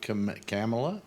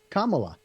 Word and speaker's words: Kamala: Kamala. Like mama but with a K.